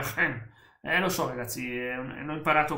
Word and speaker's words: geen: Si deve pronunciare geen.